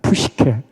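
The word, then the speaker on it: ψυχή: 두 가지로 나인다 그랬잖아요 하나가 푸시게 하나가 조회 발음 한번 해 봅시다 푸시케 푸시케 또 하나가 조회 조회 노차 이야기 한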